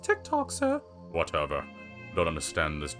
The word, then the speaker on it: TikTok: It's pronounced TikTok, sir.